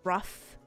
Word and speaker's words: roof: I say roof, but some people I don't know if this is a specific thing cuz I've heard people from like two different very places say it rough. Like they pronounce it the rough like r u ff.